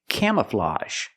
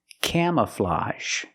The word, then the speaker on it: camouflage: this word camouflage again the AG makes the open Sound a plus the z sound a camouflage the first syllable is a the open a sound like ma'am and ham cam K the second syllable is relaxed closed uh uh Cam camouflage and that AG makes the a sound like in garage and massage camouflage this is camouflage I don't